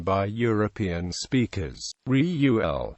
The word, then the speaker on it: Reuel: pronunciation by European speakers Riu L with the first syllable strong accented is nearer to the true pronunciation some suppose he was